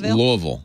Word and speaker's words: Louisville: you practicing yeah look it's just louisville louisville and it's apple week so of course louisville two syllables thank you kim hello